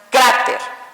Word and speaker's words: cráter: Por ejemplo, la palabra cráter suena cráter, ¿ok? Quiere decir que aquí tuvo la fuerza, en esta sílaba tuvo